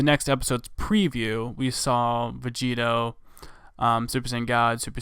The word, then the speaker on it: Vegito: Vegito kakaro yada yada put Vegeta in front of kakaro you get Vegito that's the name anyway or how it's actually supposed to be you know pronounced or said Vegito that's the character that